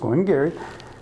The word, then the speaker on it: Glen Garioch: I'm self-funding senior yup but it's pronounced going Gary is a 12 year